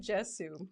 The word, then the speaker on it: Jesu: excerpt from In Sinu Jesu. Jesu. Yes. Oh, Jesu? It's a soft J, yeah. Oh, it's a soft J? Like yogging. What the heck? No, like in Latin, the letter J is pronounced.